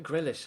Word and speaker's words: Grealish: Jack Grealish, actually, yeah, or Jack Grealish. I never know how to pronounce that. I'm told by an Irish friend that it's Grealish, so we'll call him Grealish.